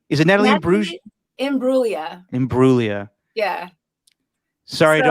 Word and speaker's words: Imbruglia: are you as torn as me and Natalie Imbruglia now that the Raiders are good now? Oh, it's the most Natalie Imbruglia every time I watch the game. How do you say her name? Is it Natalie Imbruglia?